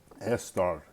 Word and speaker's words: Esther: This is a feminine proper noun, and we all know of Esther, and how it is pronounced is Esther. Esther, because you got a saw that's here.